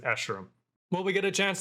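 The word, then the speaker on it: Escharum: already said that i i had to find someone else's pronunciation when i made my breakdown because i was like i don't know how to say this and thank goodness i found an interviewer that pronounced it ashram will we get a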